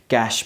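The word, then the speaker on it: cache: क्योंकि कंप्यूटर में आम ये यूज होता है कैश मेमोरी सी ए सी एच ई इस वर्ड के स्पेलिंग थोड़ी कन्फ्यूजिंग है सो माइंड में जरूर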